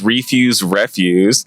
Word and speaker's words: Refuse Refuse: It's Refuse Refuse, but that's okay.